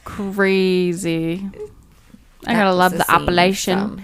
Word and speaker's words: Appalachian: I gotta love the Appalachian. What's the other way we say it? Appalachian? Appalachian. That's how they say it.